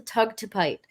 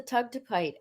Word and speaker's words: Tugtupite: If necessary, using the photos that we're going to upload in the group, meditating with the Tugtupite, Yeah.